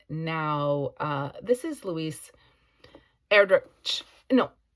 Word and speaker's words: Erdrich: I was talking about this author with a friend the other day, and I've been saying ch, which would make sense. And they corrected. They said, I think it's k.